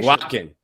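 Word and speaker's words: Eguakun: We did get an update on his name though, his pronunciation. Aguakin.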